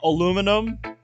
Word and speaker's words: aluminum: Is it, do you pronounce it aluminum or aluminium? Is that what you were doing? Is that what you were getting at there, Bradley? Because I know I've heard some people pronounce it as aluminium.